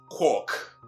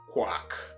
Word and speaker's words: quack: a word like this, which is not quark, but what? Quack, as in quack doctor, right?